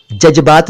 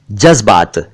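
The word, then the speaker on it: जज़्बात: जज्बात दोस्तों, जज्बा शब्द का बहुवचन है, पहले ज, उसके बाद आधा जा और उसके नीचे नुक्ता यानी डॉट, जज्बात। जज्बात ना कहें, जज्बात।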